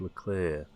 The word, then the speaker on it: Leclerc: Oh, as I understand, look at Formula 1, that's Leclerc. That's my Anglo-Saxon pronunciation.